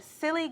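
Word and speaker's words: Psilly: is your label called silly gal records okay um silly is spelled p-s-i-l-i it's actually short for psilocybin um yeah so I'm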